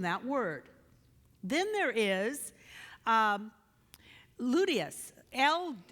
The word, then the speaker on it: ludus: Then there is ludius, L-U-D-U-S, ludus.